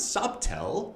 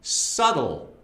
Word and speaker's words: subtle: No, it's not subtle. It's actually subtle.